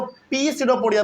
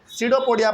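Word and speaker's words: pseudopodia: उसके बाद it pushes out वन और मोर finger like projections called सीडोपोडिया। बहुत लोग इसको पी सीडोपोडिया पढ़ते नहीं, इसमें पी साइलेंट होता है, केवल इसको क्या पढ़ेंगे? सीडोपोडिया पढ़ेंगे।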